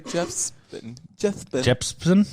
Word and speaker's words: Jepsen: Jepsen. Oh, my Jepsen. The P comes before the S.